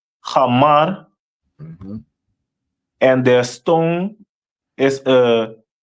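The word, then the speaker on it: חמור: And their symbol is a donkey, which is pronounced in the Hebrew as Hamar.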